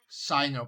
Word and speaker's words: Sino: Sino, pronounced with an I. Okay. As in scythe, yeah.